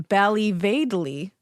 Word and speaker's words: Ballyvadlea: Uh, so she was born in Bali Vadley.